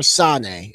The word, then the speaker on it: Sane: And the other person that made a very big impact on me was Kairi Sane, or Sane, is how it would be pronounced, who has a pirate hat.